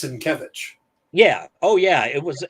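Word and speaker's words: Sienkiewicz: he was going i i used to pronounce it sankowitz same here and then broken out phonetically and he's come out and said it's cinkevich yeah oh yeah it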